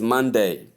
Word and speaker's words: Monday: Number seven is Monday. Stress the first syllable. Of course, the first syllable is stressed. mane, not mon day or whatever kind of pronunciation you might choose to call it.